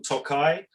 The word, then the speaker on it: Tokaj: remember that that um the little eye on the end is is the wine it is from tokai and the town does not have the eye on it we spend a